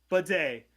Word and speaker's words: bidet: I'm looking at you the bidet is that how it's pronounced yeah that's right but whoever bidet whoever was the sicko